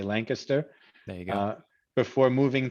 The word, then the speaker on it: Lancaster: cole grew up in lancaster pennsylvania and i think i pronounced that correctly is that they don't like when you when we say lancaster i think we're supposed to say lancaster there you go before